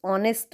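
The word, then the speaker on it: honest: third है ही इस ऑनेस्ट मैन ऑनेस्ट यह साइलेंट है ऑनेस्ट बट इसलिए इसका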